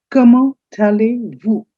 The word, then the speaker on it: allez-vous: Comment allez-vous? Comment allez-vous? The T of comment and A of allez, they link up.